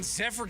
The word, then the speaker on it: Tepera: They picked up right-handed reliever Ryan Tepera from from the Angels.